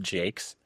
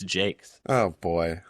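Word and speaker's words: Jacques: Did you know that it's pronounced Jakes? It's like you you definitely did that right, but apparently it's Jakes.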